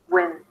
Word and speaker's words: Wednesday: Wednesday. And make sure to go through the diphthong of the A as in day. Imagine like you have a little Y sound at the end.